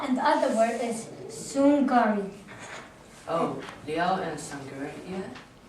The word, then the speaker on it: Sungari: So this two word how you pronounce it is Liao, and the other word is Sungari. Oh, Liao and Sangari, yeah? Did I pronounce it right, Phillips?